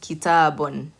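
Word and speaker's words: كتابٌ: So 2 lammas, you would take the word kitab, and because it's on the ba, you pronounce the ba with the un sound. Kitabun.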